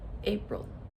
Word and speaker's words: April: So when you write the word April. April. Can you hear the schwa sound? April. Okay. So, it is that second syllable. That's thewah. But as you know, that is spelled with an I.